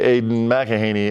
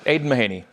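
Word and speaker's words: Aidan Mahaney: the young freshman uh Aiden mahaney I said the name wrong yeah yeah well Aiden mahaney there we go I gave him an extra syllable which is that's like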